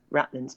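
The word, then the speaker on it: ratlines: of the mast the rattlins as they call it it's pronounced r you know rattlins but it's spelt rat lines and the best way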